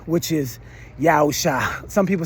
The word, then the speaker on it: Yawsha: There is a dispute about how that letter is pronounced. It's either Ah or I. And I'm of the belief that it's pronounced Ah. And so we say Yawsha.